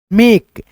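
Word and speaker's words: make: अगर किसी भी वर्ड में दोस्तों ए के बाद ए कंसोनेंट अक्षर रहे जैसे यहां पे के है और लास्ट में इ रहे तो इ दोस्तों ज्यादातर जो है ना साइलेंट रहता है। जैसे इसमें ही देख लीजिए पढ़ेंगे दोस्तों हम लोग एम ए के ई मेक जैसे यहां पे देखो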